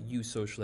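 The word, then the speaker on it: eusocial: you social wasps and when i say you social that's eu social and that prefix eu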